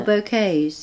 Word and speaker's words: bouquet: Oh, bouquets. Yes, Bouquets. Yes, bouquets. You're right. Yeah. In Japan, we say bouquet. Do you? Bouquet. Yeah. Because so we, I don't know. We picked a French pronunciation.